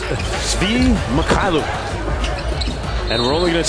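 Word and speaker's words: Svi Mykhailiuk: It's pronounced Svi Mikhailuk.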